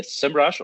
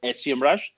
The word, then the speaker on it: Semrush: of communications at uh semrush or semrush if you prefer you can pronounce it and i've been working